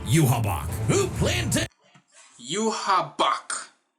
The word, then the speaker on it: Yhwach: Yuhabak, who planned to Yuhabak. Keep in mind, it is spelled YHWACH. Where the B at?